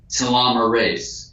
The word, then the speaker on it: telomerase: You can increase this length of the cap with telomerase. So it's telomere, and in biology we say ASE for an enzyme. So it's telomere ACE, but it's pronounced telomerase.